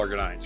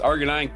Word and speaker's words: arginine: Previous research from the same group suggest argonine could argine I think it's pronounced arginine could reduce harmful protein aggregation and disorders such as spinal cerebral taxia type six or scar six.